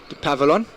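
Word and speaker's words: Dupavillon: Dupavilon. Pronunciation's fantastic.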